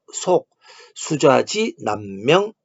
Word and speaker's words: 속수좌지 남명: 한민족으로서 나라가 없이 힘이 지배하던 열도를 방문했다가 다시 돌아오는 최초의 방문자 이름은 우리 한자의 발음으로는 속수좌지 남명입니다. 다시 말씀드릴게요. 속수좌지 남명 이렇게 되어 있습니다.